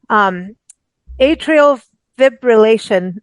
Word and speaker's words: atrial fibrillation: Atrial Fibrillation Awareness Month. Did I pronounce that okay?